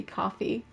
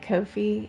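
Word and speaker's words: Ko-fi: here yeah it I it spelled like Kofi to me but yeah it's supposed to be coffee according to um like I was always calling it Kofi even though it says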